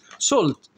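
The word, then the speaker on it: salt: ريفر هانت اي سولت، مش هقولها سلتي بقى، الاي والال مع بعض بتتنطق او زي كلمه بول.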